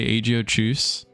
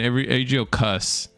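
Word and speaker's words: Aegiochus: Everyone said, like, everyone's split between Aegio Choose and Aegio Cuss. And I'm sorry, Cuss has definitely got to be wrong, man. There is no way that H is silent.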